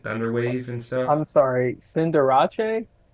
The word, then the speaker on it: Cinderace: I'm sorry, Cinderace? Cinderace. Sorry. Thank you. Keep going. No, Cinderace is how it's actually pronounced. is it really?